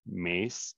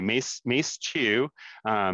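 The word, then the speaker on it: MAZ: um from mice to mice two too and then this is another vancouver connection and ally carson is like actually it's pronounced mace so i can't say that anymore but anyway mace 2 is a interesting homeobox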